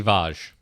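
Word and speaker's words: Vashj: me with this one it's lady vaj is it really it is really lady vaj because the other is Lady vag and that sounds terrible okay so I feel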